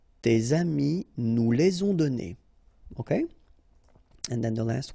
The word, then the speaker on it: donnés: Okay, so the good news is that you don't pronounce it. So donner, okay, so whether it would be without this final es or with es, you will pronounce it the same way.